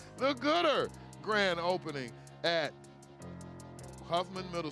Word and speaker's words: Goodard: Huffman Middle School, the Goodard grand opening, pronounced Gooder. The Gooder grand opening at Huffman Middle School, October the 8th, noon to 1 p.m.